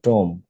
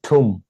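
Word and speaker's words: tomb: And lying in দ্য টম্ব, এটার উচ্চারণ কিন্তু টম্ব না, মানুষ বলে এটা উচ্চারণ টম্ব, কিন্তু এটা ঠুম, এটা উচ্চারণ কি? ঠুম। টম্ব না, টমও না, ঠুম।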